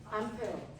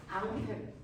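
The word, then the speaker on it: Ampère: 암페어. 암페어. 됐어. 이 아저씨가 프랑스 사람이야. 프랑스 식으로 읽어봐. 앙페르. 됐어. 원래 이름이 앙페르. 그래서 미국 놈들이 암페어라고 읽은 거야.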